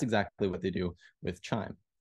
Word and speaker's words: QIIME: a computational tool called chime so spelled Qi i m but pronounced chime like a wind chime uh this is a